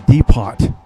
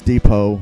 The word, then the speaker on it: Depot: part 13 where I will be in the deot no it's Depot I know people going to start correcting me